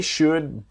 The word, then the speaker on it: should: to help you so the l in should is silent they should be able